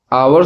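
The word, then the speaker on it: hour: Right answer हो जाएगा हावर में जो है कि एच जो है साइलेंट होता है और इसे अह आवर स्वर की आवाज पढ़ा जाता है और स्वर की आवाज होने के कारण जो है कि यहां पे एन हावर लगता है।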